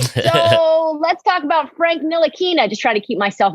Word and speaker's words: Ntilikina: I've taken 3 years to learn how to pronounce his last name. So Frank Ntilikina.